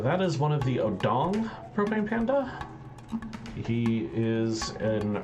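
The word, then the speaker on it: Odongh: the wrong way yes odong that's how it's pronounced it's not how it's spelled they are commonly referred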